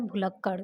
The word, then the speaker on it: भुलक्कड़: तो पहला है भुलक्कड़, दूसरा है भुलक्कड़, तीसरा है भूलक्कड़ और चौथा है भुलक्कड़। तो अगर आप इस शब्द का प्रोनाउंसिएशन करते हैं तो आप पढ़ के भी